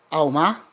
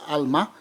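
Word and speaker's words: עלמה: hebraica para virgem ali, que se eu não me engano é Alma, em hebraico, eu posso estar pronunciando um tanto errado, mas a palavra é essa, mais ou menos essa, Alma.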